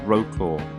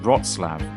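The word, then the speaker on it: Wrocław: everywhere you might think this city is called Roa but it actually is pronounced rootlab at least I'm trying my best to say zlab welcome to zlab Poland a city bustling with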